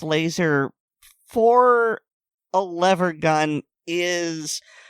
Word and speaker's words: LASR: I mean, okay, it's catchy, but LASR pronounced laser for a lever gun is, I'm not really sure what word I'm looking for.